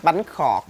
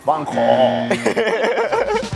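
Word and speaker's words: bánh khọt: BANH KHOT. BANH KHOT. BANH KHOT. A little bit lower. BANH KHOT.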